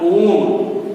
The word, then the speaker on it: ओम: आकार में ओ, म, ओम लिखा हुआ है, इसका उच्चारण होगा ओम।